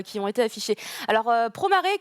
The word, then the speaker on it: Promare: Alors, Promare, que moi je prononce Promea, parce que bizarrement en katakana c'est comme ça que ça s'écrit.